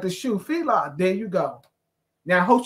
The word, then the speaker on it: Fila: it's like the shoe Fela there you go now hope she's listening to that little Miss smarty where you at now I say the same thing it's Fela f i l a so I say and